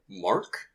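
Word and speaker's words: Marck: Mark. It's spelled M-A-R-C-K.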